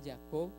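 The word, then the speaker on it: יעקב: si vamos al hebreo la palabra jacob en hebreo se dice jacob pronuncian ya co y significa mano en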